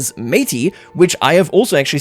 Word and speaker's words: Métis: I don't know where that S is coming from. You know, the S after the T, I have no idea. The Métis right here are apparently how that is pronounced in Canadien, so in Franco-Canadian, in Quebecois.